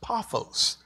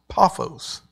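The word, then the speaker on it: Paphos: and it's uh the word is um uh pronounced p a a f o ws paos paos and this is uh so he comes to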